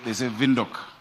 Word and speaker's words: Windhoek: They say Windhoek. We need to learn how to pronounce it.